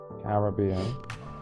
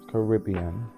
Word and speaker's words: Caribbean: is for like pronunciation so you say Caribbean and I'm pretty sure it's Caribbean listen to me listen